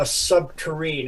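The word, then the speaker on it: subterrene: So the primary tunnel boring unit used is called a subterrane. It rhymes with submarine.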